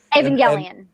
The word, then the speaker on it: Evangelion: What's obviously the I'm butchered, I apologize. Evangelion.